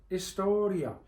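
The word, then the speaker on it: historia: the word for history hisor the I a kind of sounds like y like y like Rocky says yo Adrian yor there's a big difference between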